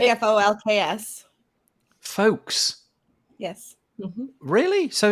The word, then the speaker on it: Folx: The word is spelled Folx, and I've never said it out loud. It's like Folks.